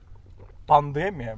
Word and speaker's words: пандемия: Сейчас, раз пандемия, блядь, сегодня услышал, что правильно говорит слово пандемия. На Е ударение.